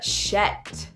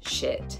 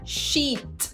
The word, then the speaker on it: shit: Shet and shite are variations of the word shit.